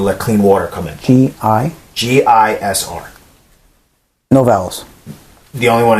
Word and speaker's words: Gisr: But it's Gisr, so there's no vowel in there, so Gizir. Gisr?